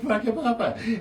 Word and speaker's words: Whakapapa: I said, for real, it is actually called Whakapapa. And it's spelled with a WH, not an F.